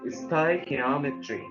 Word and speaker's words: stoichiometry: what is stoichiometry this type character is pronounced as stoichiometry from the greek stoichiom which means element or